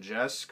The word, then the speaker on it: Jeske: issue is drawn by Morgan Jeske or Morgan yaski I'm pretty sure it's the SK I've heard it pronounced both ways uh and the fifth